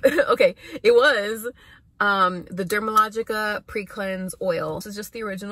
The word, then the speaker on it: Dermalogica: of it um it's the brand is called dermalogica i don't know why everybody always gets that twisted they'll be like oh dermatologica i don't know just making up like how it's pronounced it's called dermalogica so basically it's an